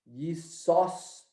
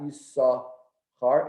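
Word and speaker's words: יששכר: There's actually, the real way of pronouncing this name is Yisoschar. There's two sins over there. It's not Yisachar, it's Yisoschar.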